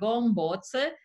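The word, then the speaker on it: Gömböc: yet another ruling from the CJU concerning the Gombots sign. I learned today that this is indeed the correct pronunciation.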